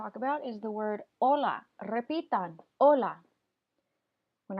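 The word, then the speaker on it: hola: do right here you do not pronounce that letter H so you do not say whole law and just say Ola and then over here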